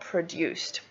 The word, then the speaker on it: produced: And if we have an S sound before the ED changes into a T. So that's why we've got this. We've got produced.